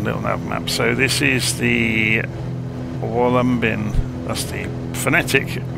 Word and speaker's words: Wollumbin: So, if we look it up on LittleNavMap, so this is the Wollumbin, that's the phonetic pronunciation, Wollumbin National Park.